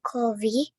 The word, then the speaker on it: coffee: Nah, ini bacanya coffee. O-nya nggak terlalu bulat. V-nya, F bunyinya beda dengan V. Tadi Naima bunyinya V. Coffee. Nah, coffee bunyi F.